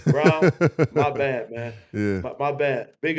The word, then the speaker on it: Braun: I always been calling this young fella Braun. Brown, my bad, man.